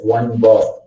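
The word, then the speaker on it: 1̄: It is not it will not be pronounced as -1. Instead, it will be pronounced as like 1 bar.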